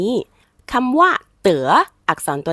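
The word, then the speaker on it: 得: ครั้ง นี้ คำ ว่า เต๋ อักษร ตัว นี้ เป็น ตัว ยิน จื่อ นะ คะ ก็ คือ มี หลาย เสียง ถ้า ออก เสียง ว่า เต๋ จะ แปล ว่า ได้ รับ ถ้า เตือ เหรอ เขา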